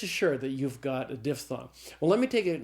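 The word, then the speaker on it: diphthong: I always thought it was dip thong, but it's not. It's diff thong.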